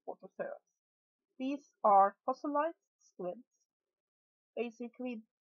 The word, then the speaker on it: Orthoceras: This is, I think it is to be pronounced Orthoceras. As you know, I have a problem pronouncing things properly, but I think it's Orthoceras.